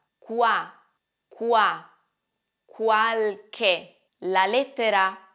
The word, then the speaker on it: qualche: che che ricordate questo la lettera c quando è seguita dalla lettera h produce un suono duro qualche cos'è qualche qualche è un aggettivo indefinito e in quanto aggettivo accompagna sempre un sostantivo qualche significa non molti alcuni